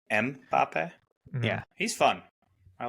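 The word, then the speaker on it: Mbappé: know this oh mbapp yeah that's how you pronounce his name mbapp yeah he's fun I like it he was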